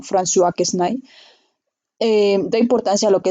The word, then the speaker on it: François Quesnay: Es como una S para nosotros, se pronuncia como François Quesnay.